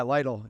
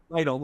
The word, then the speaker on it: Lytle: I commented on Elizabeth Little. Yeah, Lytle. Yeah. Lytle. I didn't know how to say it.